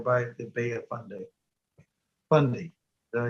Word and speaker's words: Fundy: Fundy, did I say it right? Fundy, yeah.